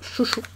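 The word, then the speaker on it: XOUXOU: Et du coup, c'est marqué Ksou Ksou ici. Donc, apparemment, ça se prononce Chouchou.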